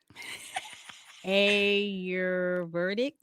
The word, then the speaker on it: Ayurvedic: Ayurvedic. Yes. Okay. Yep. And it's spelled, for those that are interested in it, it's There you go.